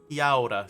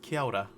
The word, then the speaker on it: kia ora: So the AO is pronounced like ow, ow. Kia ora, kia ora.